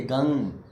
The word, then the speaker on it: गं: मंत्र सिर्फ गंग है, गंग गंग गंग गंग गंग। अब गंग ग भी नहीं है, गंग बस गंग, यही नाक में अटक गई आवाज। असली उच्चारण ये है गंग, क्लीन, रंग, हंग, हम नहीं होता।